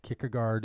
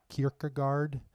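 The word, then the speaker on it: Kierkegaard: or do you say kard I know uh I admit I'm a little inconsistent I know the proper Danish pronunciation is not to pronounce the hard D at the end so it's sort of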